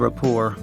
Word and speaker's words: rapport: Usage of Rapport: Note that the "t" is silent in rapport.